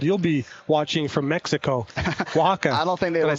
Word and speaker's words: Oaxaca: You'll be watching from Mexico, Oaxaca.